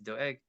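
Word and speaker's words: דואג: Vayomer Melech ledoyeg, it's spelled doyeg, but it's doeg, ledoeg, sovatav gabakonim.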